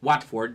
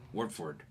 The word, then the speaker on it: Watford: I say Watford because it has an A, but apparently it's like Watford or something like weird.